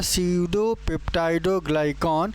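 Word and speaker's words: pseudopeptidoglycan: यहां पे पी जो आप देख रहे हैं पी पूरी तरीके से साइलेंट हो जाता है। क्या हो जाता है? पी पूरी तरीके से साइलेंट हो जाता है। इस वजह से इसे सडोप्टाइडोग्लाइकॉन या सडो म्यूरिन के नाम से जानते हैं।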